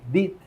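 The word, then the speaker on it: DEET: clínica la farmacia compramos bidones de dit se escribe d e t dit Ese es el insecticida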